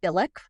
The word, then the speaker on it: Bilek: Tonight, I have with me Raffi Bilek, rhymes with acrylic, and he is an author and a social worker, and he has written a book called The Communication Book.